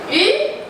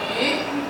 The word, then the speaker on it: 鱼: 鱼, the pronunciation in Mandarin of 鱼 sounds similar to the word extra.